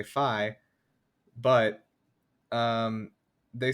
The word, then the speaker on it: Fi: pronounce that they say phi but um they say her her so her japanese name the romanji or you know the romaji for it reads f a i which is pronounced as fae and in the spanish